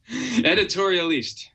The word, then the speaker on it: Editorialiste: How do you say that, Andrew? Editorialiste. It's French.